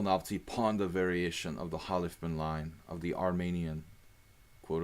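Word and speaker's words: Khalifman: Halifman rhymes with on.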